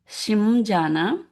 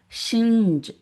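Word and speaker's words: शिञ्जान: So here we can say Shimjana, but we don't say Shimjana because Anuswara is followed by J. So as per our rule here, Ja, cha, ja, cha, meaning the Anuswara should sound nj sound. So we will say shinjana.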